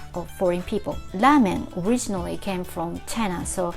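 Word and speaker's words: ラーメン: names of foreign people lamen originally came from china so we usually write ramen in katakana form you see line here the lime means you prolong the preceding vowel here it's a so you prolong and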